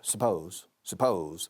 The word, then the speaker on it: suppose: Pero decimos suppose. La segunda sílaba lleva el estrés, as we say in English. The second syllable carries the stress.